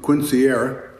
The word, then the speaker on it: quinceañera: before too long, for her, I think we pronounce it quinceañera, it's close.